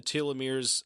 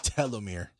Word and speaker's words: telomere: seems to be somewhere in the telomeres of our cells.